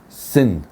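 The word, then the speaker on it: צִן: Now, I know this is, by the way, in English it says Zin with a Z, like it's the letter Zayin, but in Hebrew it's the letter Sadi, which is a TS. Sin, okay? That's how it's properly pronounced.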